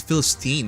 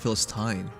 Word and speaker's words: Philistine: Wait, she pronounced it wrong then. It's Philistine, not Philistine.